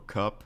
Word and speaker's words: Kupp: Next birthday is Cooper Kupp. Is that really how you pronounce his name? Not Cup, not C-U-P, K-U-P-P.